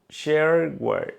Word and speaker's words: shareware: shareware vale un shareware o como se pronuncia no shareware shareware como software software shareware Bueno o sea que